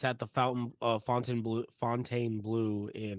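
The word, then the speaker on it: Fontainebleau: and it's at the Fontaine Blue in. Is that how you say it? Fontaine Blue, yeah. Oh, okay. So it was Fountain Bleu. It's French.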